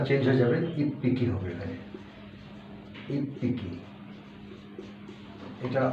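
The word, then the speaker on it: いっぴき: হবে ইচি যোগ Hicky itchy যোগ হিকি এটা উচ্চারণটা চেঞ্জ হয়ে যাবে ইফ পিকি হবে এখানে ইফ পিকি এটা আগের মতই ইচির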